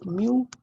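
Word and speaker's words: mu: अच्छा, इसका प्रोनाउंस क्या करते हैं, म्यू, इसको प्रोनाउंस करते हैं म्यू।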